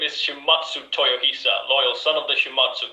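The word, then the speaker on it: Shimazu Toyohisa: introduce yourself to the people ah you always mispronounced the name my name is shimatsu toyohisa loyal son of the shimatsu clan i fought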